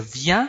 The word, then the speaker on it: viens: 个注音符号的 an。Pardon, excusez-moi。je viens 后面是那个 an 的音，好，那所以这就是 vien，vien，je viens，je viens。